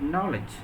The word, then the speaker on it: knowledge: is not pronounced and in the word knowledge the letter K is not pronounced in tsunami or in